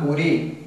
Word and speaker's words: Curie: sino el principio de funcionamiento pertenece al Gran curi o Curie se escribe Curie se pronuncia cu que junto con